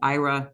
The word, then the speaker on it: IHRA: These two bills, one is the state adopting the IHRA definition of anti-Semitism, called IRA, the H is silent.